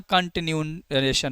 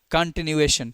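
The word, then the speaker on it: continuation: सर ठीक है और यहां कंटिन्यूशन आ जाएगा ठीक है कंटिन्यूएशन ठीक है हां कोई इसे कंटिन्यूशन कहता है क्लियर है क्या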